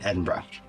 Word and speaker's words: Edinburgh: I know how to say it correctly. Glasgow and Edinburgh.